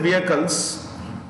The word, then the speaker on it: vehicle: safe travel passengers and vehicles passengers and vehicles vehicles is vehicle the edge is silent comma reduce travel time